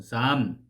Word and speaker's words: psalm: 여기 쓰여진 시는 헬라어로 프살모스 요게 이제 영어로 쌈 psalm 해서 3으로 발음하죠 이것은 수금의 소리라는 문자적인 의미입니다 즉 악기를